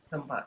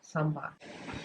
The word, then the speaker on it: sambar: Sambar. Sambar.